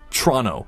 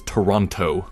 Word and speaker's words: Toronto: do so here's some quick travel dips it's pronounced trono Tron o trono I know many of you may have watch those Simpson episodes where Bart actually says Toronto Toronto but this is a big hustle and